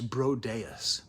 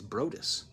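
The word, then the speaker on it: Broadus: I always thought his name was Brodeus, but it turns out I've been reading his name wrong. It's Brodus.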